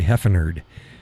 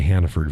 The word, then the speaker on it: Hannaford: It's like I say Heffenerd. I don't say Hannaford very often.